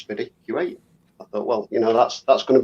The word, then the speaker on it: SpiddyQ8: He says, "Where did the name SpiddyQ8 come from?" And I have a question for you. It is SpiddyQ8, not SpideyQ8, or how would you like it pronounced? Well, I've always said SpiddyQ8 because it's combined of